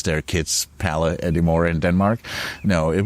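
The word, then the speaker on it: Palle Bo: name when I say that my name is Pala people always lean in and say oh sorry what of course uh more if I say my name is palabo it's like okay that rolls off the tongue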